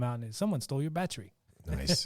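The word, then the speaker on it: Báthory: say what is that battery battery the H is silent so spelled b a t h o r y pronounced in the Polish or Slovakian vernacular someone stole your battery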